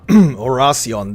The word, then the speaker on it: Orion: Edith Branch last night or Orion that's that's how you say it okay authorities have yet